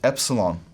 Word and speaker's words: epsilon: Both pronunciation systems treat this much the same way. It's an E sound, as in met, E, met.